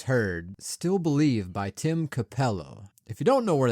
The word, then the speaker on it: Capello: yes that's the pronounce a Capello that's perfect no no it's just just Capello not acapello uh just a shredded